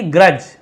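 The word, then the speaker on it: grudge: है क्या रखती थी ग्रज यहां पे डी साइलेंट है ग्रज का मतलब होता है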